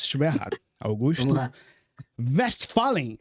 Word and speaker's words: Westphalen: Westphalen, é isso?